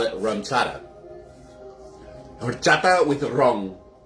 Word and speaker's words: ron: Horchata with wrong. As the as the Latinos like to say, wrong. And it's spelled like that, too. They don't spell it ru, they spell it r o n.